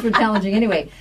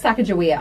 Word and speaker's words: Sacagawea: part of some individuals with names I cannot pronounce Alan G way they joined the expedition I think oh it's Sacagawea I've just never I don't know I've ever